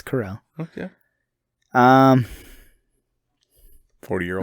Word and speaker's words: Carell: i love steve carell is it corel or is it carrot that's correlated really yeah i think i think i've been saying his last name wrong for years no no it's it's corral okay um 40 year